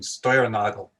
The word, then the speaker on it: Steuernagel: And I'll use the German pronunciation, Steuernagel.